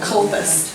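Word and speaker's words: Comhaltas: And then we've got this great organization called Culpus. And this is how you say that word, culpus.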